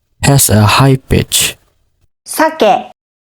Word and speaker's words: 酒: So sake has two syllables. The first syllable is sa and the second syllable is ke. So as you can see in the graphics here in sake salmon, you can see the first syllable has a high pitch and the second syllable has a low pitch.